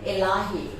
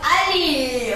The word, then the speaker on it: Elahi: Am I saying his surname correctly? Elahi. Z Elahi. Oh, it's Ali. Okay, let's say it like that.